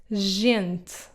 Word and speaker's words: gente: If it comes before an E or an I, then it will be soft, like in the word gente. So these words would be read as grande, gente, and gato.